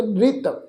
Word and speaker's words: नृत: पर इत्थे साध संगत नन्ने नूं सिहारी लगी है, नन्ने के पैर च अद्धा रारा है, तो इसका पाठ उच्चारण करांगे नृत।